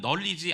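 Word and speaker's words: knowledge: 널리지라고 이렇게 파생되어 나오죠 사실 여러분 그 지식 아는 지식이라는 널리지 앞에 보면 묵음이 하나 있어요 묵음 k라는 단어가나 붙어 있는데 발음은 하지 않고 know에서 난리를 씁니다 근원시스라는 말이 난리지로 이렇게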